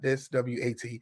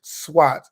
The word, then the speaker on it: SWOT: You want to do what is called a SWOT analysis, and that's spelled SWOT, not SWAT. SWOT, which means S stands for strength, W stands for weaknesses, O stands for opportunity, and T is your threats.